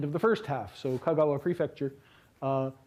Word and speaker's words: Kagawa: So, Kagawa prefecture, uh Kagawa is uh it's name of a place and it's uh got accent on its first syllable.